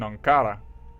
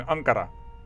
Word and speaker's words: Ankara: start of the Ottoman Empire starts here in anara in Ankara yes indeed sorry for that pronunciation in Anar and we are going to